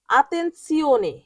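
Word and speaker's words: attenzione: পরের শব্দটি হল আতেনসিওনে।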